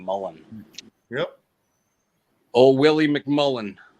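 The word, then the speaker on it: mullein: it too yeah it's m-u-l-l-e-i-n oh it's e-i-n sorry yes spell it again Shane m-u-l-l-e-i-n l-e-m-u-l-l-e-i-n yeah with the name it's just like a person you would know name Mullen yep oh Willie McMullen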